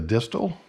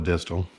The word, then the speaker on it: distal: is going to be the distal or the distill again there's different ways to pronouncing these hitches depending where you're from but I'm going to call it a distal and what's nice about